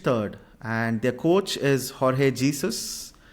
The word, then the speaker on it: Jorge Jesus: and their coach is Jorge Jesus or Jorge hesus I I think that's how he's pronounced uh alhilal is a